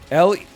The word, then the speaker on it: Lieutenant: L-I-E-U-T-E-N-A-N-T. Lieutenant in England. In America, lieutenant.